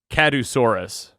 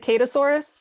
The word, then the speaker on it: Kadusaurus: how to say this correctly i was saying kadusaurus that works um we pronounce it ketosaurus because like katie obviously yeah but besides kadusaurus